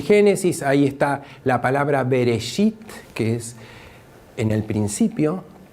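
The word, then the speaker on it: בראשית: primera palabra del génesis cuya pronunciación en hebreo es bereshit y que está traducido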